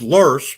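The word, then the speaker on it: loess: in the mississippi river that are wind-blown sediments pronounced lurs but spelled l-o-e-s-s but let's keep going and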